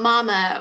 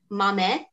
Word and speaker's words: mame: you say oy mame that's how you say it's not mama or mommy but mame i don't i can't